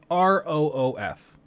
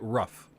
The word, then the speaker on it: roof: like the word like r-o-o-f I know people up north that pronounce it rough that's objectively wrong it's not rough it's roof okay it's two o's makes an ooh sound it's roof I hate to be